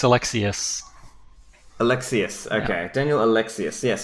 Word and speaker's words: Alexiuc: Stefan excellent so Daniel elects you is that pronounced Alexi closed its Alexius Alexius okay Daniel Alexius yes sir Daniel is